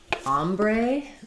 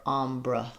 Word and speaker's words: ombre: Um, um, we have a question about ombre. Um, so, om, m r e. Um, first syllable stress, letter o says a. Ombre. And then secondary stress on the bray syllable. Um, ombre or ombra.